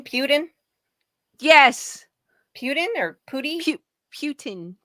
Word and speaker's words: Putin: or other communist countries yes what's his name Putin yes Putin or py Putin Putin Putin yeah